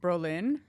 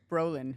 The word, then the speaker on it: Brolin: Josh, I always say his last name wrong. Brolin. Brolan. Brolan. Brolan. I just know John's kind enough to correct me. I I think I keep saying Berlin and it's you're adding some sauce on there.